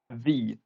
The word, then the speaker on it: ye: Like for example, when you read something on an old building in England that says with a a Y and an E, it is actually pronounced as as the because that the Y is supposed to be likened to an old letter that no longer exists in the English alphabet that just uh made the sound.